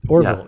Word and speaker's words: Orville: How you pronounce it? Orville.